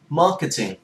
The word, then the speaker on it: marketing: Như cái từ marketing, marketing không phải marketing, marketing bỏ ra cái r, marketing. Các bạn cũng nhớ ráng đừng có phát âm ra theo tiếng Việt, đừng có marketing, bỏ dấu marketing, marketing.